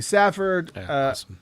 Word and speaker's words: Safford: to duane tudoll uh thank you to wally safford definitely you can pick up all their stuff